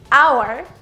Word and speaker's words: hour: Esta regla tiene estas excepciones en las que la H no tiene sonido. Hour, air, honest, honor.